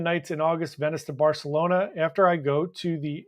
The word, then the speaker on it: Barcelona: Tony Diaz heading to Barcelona tomorrow night, or Barcelona, as it's supposed to be pronounced, which I hate.